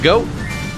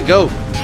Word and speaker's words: Goht: bring it bring a goat I always pronounce it as go when I was a kid I'm like then I realized he's a goat so I'll just pronounce it as goat so what you want